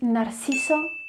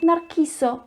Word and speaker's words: Narciso: first one is that the letter c in the name narcisso tends to be pronounced as nar kiso remember when the c